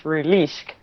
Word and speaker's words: Rulueashk: My son taught me how to pronounce it. It's Rulueashk.